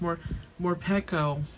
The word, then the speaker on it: Morpeko: I have two different Houndour, Coughing, another one, Krokorok, Linui, Malamar, Mandibuzz, or Pico. No, it's pronounced Morpeko, Murkrow.